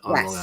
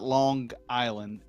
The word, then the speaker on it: Long Island: well, if you want to spell it phonetically, it's lawn, like lawnmower, lawn, Long and then Island.